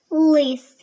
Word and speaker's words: лис: Але в слові лис звук л вимовляється твердо. Він твердий. Це твердий приголосний лис.